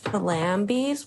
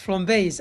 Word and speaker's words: flambés: Gambas flambis with sambuca? Sambuca. Sambuca? Cheers. Eye contact. So in case Liz's pronunciation confused you, tonight they're cooking gambas flambés à la sambuca, which is French for flaming shrimp with, of course, sambuca.